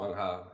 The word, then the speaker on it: Meng Hao: Meng Hao, yeah.